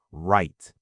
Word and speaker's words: right: And below that sentence is the word right. Silent W at the beginning.